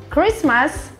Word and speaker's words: Christmas: a saia em claro quando dizemos Christmas Christmas não pronunciamos a letra T Nós temos muitas expressões